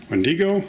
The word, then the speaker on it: Wendigo: working on parts for wendi-go or a Wendigo depending on how you like to pronounce it and we've got some